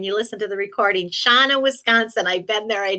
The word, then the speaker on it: Shawano: Shawano, Wisconsin, I've been there, I know how to say it.